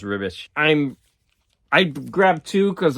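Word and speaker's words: Ribić: is esad ribish and it's r-i-b-i-c but I think it's pronounced rubbish I'm I'd grab two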